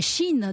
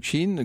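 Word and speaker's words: Qin: 5ème siècle à 221 avant notre ère la chine donc compter à cette époque-là cinq royaumes principaux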